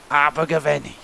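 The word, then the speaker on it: Abergavenny: welsh and it was abu ghaveni which is how everyone there pronounces it with that exact voice even all the women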